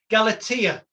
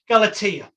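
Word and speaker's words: Galatea: never pronounce this right galatia effect some people will pronounce it different than that I appreciate but I say galaa effect which is internalize self-fulfilling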